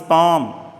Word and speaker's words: palm: He puts the ring on हिज पाम, वो ये अंगूठी अपनी हथेली पर रखता है। पाम बेटा कहा जाता है हथेली को, ठीक है ना, ये हथेली, पाम, PALM, एल इसमें साइलेंट है।